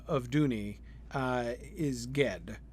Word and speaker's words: Ged: I am positive that Ged is the mainstream pronunciation of that. Okay, good. Yeah, Le Guin does indicate a hard G for Ged.